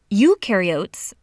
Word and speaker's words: eukaryotes: mitochondria and Golgi apparatus eukaryotes the U rhymes with do they do have membrane-bound